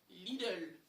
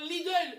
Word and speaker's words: Lidl: Lidl, je prononce bien Lidl.